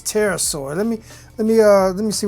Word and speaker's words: Pterosaur: I'm sorry, it's Pterosaur. Let me see how you spell it.